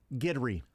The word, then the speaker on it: Guidry: Arizona Cardinals, who he was now with, all pronunciation guides have Guidry.